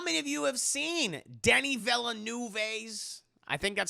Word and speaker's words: Denis Villeneuve: How many of you have seen Denis Villeneuve's, I think that's how you say his name. If not, I'm going to call him what his mama named him, chat. She named him Denis Villeneuve, okay?